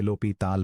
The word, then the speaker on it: L'Hôpital: जिसे लोपी ताल प्रोनाउंस करते हैं।